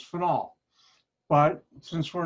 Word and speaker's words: phenol: I pronounce it phenol. People mispronounce it phenol. And at one company, Borden Chemical, I had a running argument with other PhD chemists, and they'd say it's phenol. I said, no, it's phenol.